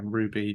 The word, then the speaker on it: RWBY: Ruby. That's a mouthful. Okay, there you go. Ruby, thank you. I know it's red, I could white, see you black, crossing your head. Yeah. No, man, it's Ruby.